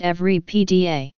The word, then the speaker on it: Everipedia: profit not a foundation in English every pedia is pronounced every PDA the site's name is